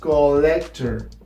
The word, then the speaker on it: collector: When you see two L's in a word, it is pronounced pretty much like only one L in Spanish. So when you see words like collector, it is pronounced collector.